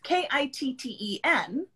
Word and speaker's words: kitten: butter water yeah water or we will drop the sound so for conical it's k-i-t-t-e-n so but we say kitten yes okay so we